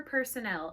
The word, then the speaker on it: personnel: So, store personnel. Everybody say store and then personnel. Personnel. This is different than personal, which is like your personal belongings. It's spelled differently and it's pronounced differently.